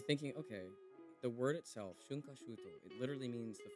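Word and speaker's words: 春夏秋冬: The word is pronounced shunkashuto.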